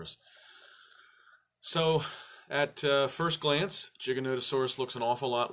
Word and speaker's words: Giganotosaurus: O that changes everything longest time I pronounced it gigantasaurus gigantasaurus and then someone pointed out to me wait mr. Mike there's an O in the middle of that which changes it from gigantasaurus to Giganotosaurus so today's animal is